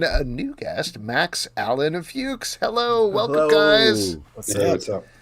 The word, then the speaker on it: Fuchs: which is the marry jyn which is the fuches I hope I'm pronouncing your name correctly you are you are